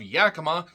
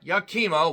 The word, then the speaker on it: Yakima: the not so small town of Yakima, not Yakima, Washington, which is in eastern Washington.